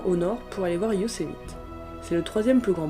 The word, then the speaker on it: Yosemite: Le nom de cette vallée, prononcé Yosemite, provient d'une tribu indienne, les Uzumati, qui furent exterminés au début du 19e siècle.